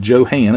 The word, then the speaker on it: Johan: But he was talking about Johan, as he says his proper pronunciation, Johan.